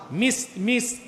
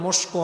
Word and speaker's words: মিস্ক: মিস্ক, আমাদের দেশে মানুষ বলে মস্কো, মেস্কো, আসল উচ্চারণটা হচ্ছে মিস্ক।